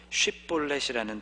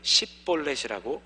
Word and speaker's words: 쉿볼렛: 바로 쉿볼렛이라는 단어였죠. 에브라임 사람들은 쉬라는 발음이 잘 안 되었기 때문에 대부분 이 단어를 십볼렛이라고 발음하는 것이 일반적이었습니다. 흘러가는 물 또는 나무나 곡식에서부터